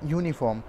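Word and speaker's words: uniform: अब हम पढ़ रहे हैं यूनिफॉर्म। अगर हम इसे यूनिफॉर्म पढ़ रहे हैं तो सबसे पहले आप देख रहे हैं जब हमने इसे प्रोनाउंस किया, प्रोनाउंसिएशन इसीलिए हमने आपको यहाँ पे लिख रखा है, जब हमने इसे प्रोनाउंस किया तो सबसे पहले क्या आया, यू आया।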